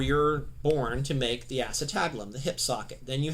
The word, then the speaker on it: acetabulum: at it in the manual it looks like a sita bull 'm it's pronounced acetabulum but that's the hip socket okay now this